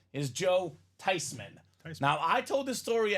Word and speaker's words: Theismann: says it makes sense it's a German name with that spelling that pronunciation it should be tysman so Joey t for